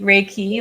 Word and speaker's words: Reiki: do you pronounce it reiky raiki Reiki like Ray sunlight and a key to unlock so raiki Master teacher